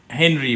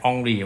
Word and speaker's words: Henri: All right, in 1896, the French physicist, his name is Henry, but I think it should be pronounced as Henri.